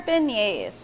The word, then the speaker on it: beignet: So these are our beignets, and they're nicely coated with powdered sugar. And it's a nice New Orleans favorite. And remember, when you're pronouncing beignet, don't pronounce the T.